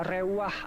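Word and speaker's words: רוּחַ: taruh di sini ini tulisannya seperti rumah Tapi bacanya rewah artinya beda ya dengan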